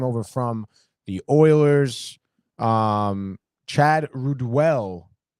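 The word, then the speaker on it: Ruhwedel: Chad Ruedel, Ruedel, I believe is how you say his name.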